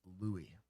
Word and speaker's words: Louis: Pronounced Louie. So Julia Louie Drifus.